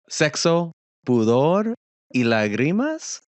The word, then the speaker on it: Sexo, Pudor y Lágrimas: There's a lot to discuss in this movie, but Sexo, Pudor y Lágrimas?